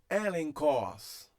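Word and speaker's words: ἔλεγχος: antes do que, então esse gama recebe o som de N e o que permanece CH. Tá? É o CH, a gente já viu isso aqui lá no alfabeto grego, lá no início, né? Equivalente de que é o CH, tá? E aqui, ó, o CH do que. Então, a palavra é lida como elenkos.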